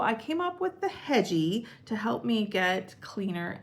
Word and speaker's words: Hedgie: Hedgie rhymes with edgy, so that's where I came up with that idea.